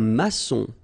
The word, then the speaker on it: maçon: Here you can see that we've got this little cédille beneath the C, okay? And it just means that you will pronounce this C as S, okay? So that's the reason why. It's un maçon. Son, okay? O-N in your nose, nasal, un maçon.